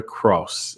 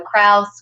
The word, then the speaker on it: Kraus: say hello to Cross and forgive me if I pronounced your name your last name wrong that's okay cross sounds really good to me it's very German so Kraus Krauss whatever oh god she got